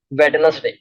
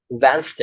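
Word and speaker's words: Wednesday: लोग क्या बोलते हैं पता है, वेडनेसडे, वेडनेसडे, लेकिन वो वेडनेसडे नहीं होता, वेंसडे होता है।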